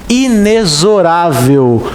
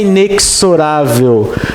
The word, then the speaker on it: inexorável: Porque essa palavra se pronuncia inexorável, com som de Z. Não é inexorável.